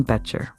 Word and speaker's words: Boettcher: hi I'm beter It's pronounced beter like you beter life I am the